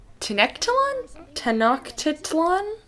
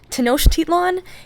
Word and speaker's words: Tenochtitlan: It looks like Tenochtitlan? It is pronounced Tenochtitlan, and I'm an idiot.